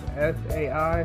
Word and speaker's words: Cye: pronounced this i mean they spelled his name as c y e and my uh reference of that particular name is sai so maybe it's just